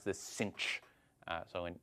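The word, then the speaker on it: sinh: we usually pronounce this cinch uh so in in American English as if there were an extra c in there cinch um so okay so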